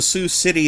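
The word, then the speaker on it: Sioux City: Well, there there is also a Sue city in Iowa, but it's spelled very different. It's it's Sue, as in the uh the Native American tribe.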